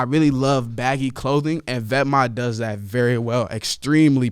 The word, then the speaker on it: Vetements: Then I'm gonna go with Vetements, or Vetma, how I think it's pronounced, but Vetements, if you read it out, it looks like Vetements, but it's pronounced Vetma, pretty sure.